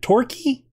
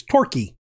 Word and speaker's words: Torquay: Is it Torquay? Let me go find out. All right.